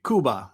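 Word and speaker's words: Cuba: They would pronounce uh the country Kuba, you know.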